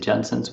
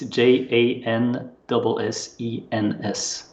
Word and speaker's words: Janssens: You said it almost perfectly. You said Janssens, which is pretty good. Thank you for your effort. So it's Janssens.